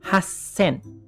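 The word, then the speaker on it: はっせん: Waktu ketemu nomor 8 pakai double S, hasen.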